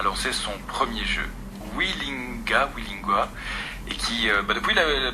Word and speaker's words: Weelingua: Alors, le premier le premier jeu, on prononce comment ? Alors, la maison d'édition s'appelle Willing D'accord.